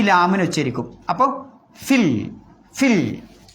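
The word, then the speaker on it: فِي: അപ്പോൾ ഫിൽ ഫിൽ. അവിടെ ഫീൽ എന്നൊന്നും ഓതാൻ പാണ്ട, ഫിൽ.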